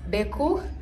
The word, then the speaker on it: Gbeku: African dance move Deku the g is silent I've had so it's beku this one it came